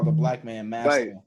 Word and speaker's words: Masta: Yeah, Masta. That's how white people say my name. Right? Like I don't want to be like that, man. It's just Master.